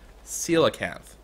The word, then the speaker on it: coelacanth: And apparently, the way I'm pronouncing the fish name is apparently coelacanth. Which, I guess that would mean that its actual name would be seal, like the short term, because it's just called C-O-E-L.